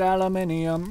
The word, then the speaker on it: aluminium: I pronounce it aluminium, because there's an I next to the U and M.